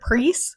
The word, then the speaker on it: Preis: The German translation of this book, The Barcode Tattoo, was shortlisted for the prestigious Jugend Literature Preis, which means Youth Literature Prize.